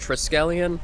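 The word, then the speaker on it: Triskelion: It's pronounced Triscellion.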